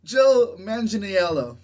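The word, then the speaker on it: Joe Manganiello: michelangelo millie millie bobby brown mother the jungle joe manginiello thank you he's back as death death stroke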